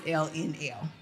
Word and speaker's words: Ellenelle: So it's LNL versus, I know some people get a little confused about how to pronounce it, but it's LNL.